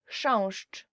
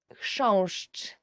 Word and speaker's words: chrząszcz: Chrząszcz. Beetle. So the first word is, and I promise you this is the most difficult word you will ever learn in Polish, as for the pronunciation, is chrząszcz.